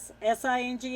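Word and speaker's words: Singh: uh Indian nationals uh it's a s i n g h how you pronounce that sing uh 30 years old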